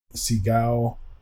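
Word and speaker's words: Segoe: a native Microsoft font Seagal I believe is how you say it it's the default font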